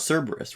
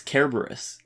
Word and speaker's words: Cerberus: or you know like it's not cerberus right it's kerberos yeah the dog yeah